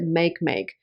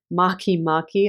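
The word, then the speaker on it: Makemake: when I was talking about Maki Maki I pronounced it make make because that's kind of how it's spelled but it's actually Maki Mari I've learned so Black Moon Lilith and Mari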